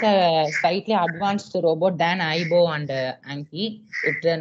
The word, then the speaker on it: Aibo: It is pronounced as Aibo.